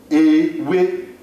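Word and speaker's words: ewé: Ewe, we, ewe, ewe, we, ewe, ewe. You would see that it starts with the English E, but it is not pronounced as such.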